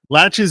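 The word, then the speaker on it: laches: nothing in the allegations latches is a reference to is a legal term it's a reference to delay it's spelled like the word latches but with no t in it and it's a reference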